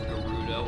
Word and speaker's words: Gerudo: Okay, I've always done hard G. It sounds more correct as Gerudo and not Gerudo. Most because I think Gerudo sounds really silly.